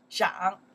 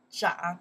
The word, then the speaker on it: 长: yeah to pronounce right in that case we pronounce the 长 yeah 长 one more time 长 in English to grow